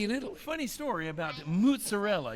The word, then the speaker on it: mozzarella: Funny story about mozzarella. You know how you taught me how to say mozzarella? Mozzarella. M-U-T-Z. That's how it's spelled.